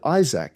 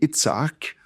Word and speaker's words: Isaac: Well, so Abraham fathered Isaac. So again, you got a double A. In Hebrew, it would be Itsak, but don't worry about that. So Isaac, Isaac, I would just say Isaac cuz that's how everyone says it.